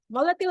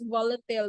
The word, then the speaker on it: volatile: spirit of self volatile volatile or volatile depend Ino ha uh an gamitin if you want American English that's volatile but if British English that's volatile but the two are accepted na pronunciation so respiratory stimulant Lang